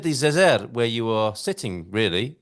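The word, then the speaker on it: Zêzere: And you see, Carl, you see why you have to stress the first syllable, because on the E, you have a acento circunflexo, that hat on the E, it makes you stress that part of the word. So that's why it's Zezer.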